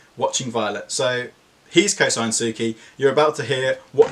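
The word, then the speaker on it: Souki: shoot up so quickly they're called Suki and that is spelled s o u K I I'm not sure where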